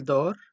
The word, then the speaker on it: dort: S à la fin tu dors avec S à la fin aussi il dort mais ici avec T à la fin mais se prononce de la même façon nous dormons ons à